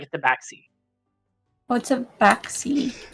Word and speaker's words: tabaxi: And it's called Taxby? Tabaxi. Tabaxi. Oh. Yeah. So it's like tab and then axe and I. Oh, Tabaxi.